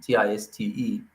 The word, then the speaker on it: Tiste: I say Tiste. Not how I would have pronounced it, Tiste, but I know that's how the author pronounces it.